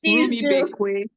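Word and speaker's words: Rumuibekwe: Permit me if I did not get the pronunciation. Let me help you with that. Rumi Bekwe.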